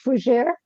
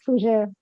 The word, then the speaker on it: Fougères: Please bring out Reverend I need to make sure I pronounce this right, so forgive me, if I don't. Fougères. It is okay. It's Fougere. Fougères. Perfect. Yes, Fougere.